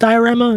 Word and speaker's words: D10RAMA: I think is pronounced diorama even though it's like d one zero but you know stylized all right here you